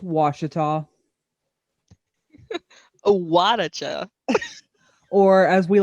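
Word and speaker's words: Ouachita: pulled up on my screen right now is pronounced washita a wadacha or as we like to say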